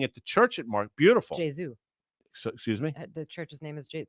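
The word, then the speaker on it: Gesù: Jesu. So, excuse me? The church's name is it's the Church of Jesu. I was baptized there. Jesu.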